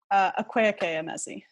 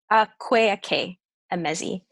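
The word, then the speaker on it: Akwaeke Emezi: By Aweke Emezi. Is that how you say her name? Akweake Emezi. Akweake Emezi.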